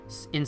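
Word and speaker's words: い: The next one it teaches you is the letter I, which is pronounced like E, actually.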